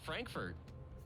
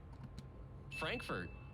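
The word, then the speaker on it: Frankfort: It's pronounced Frankfurt. Frankfurt.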